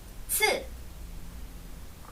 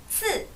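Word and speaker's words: 赐: 그래서 츠 같은 경우에 CH가 아니죠. 건설음이 아닙니다. 한국어에 있어서 츠 발음하고 비슷합니다. 자, 따라 읽어주세요. 츠, 츠.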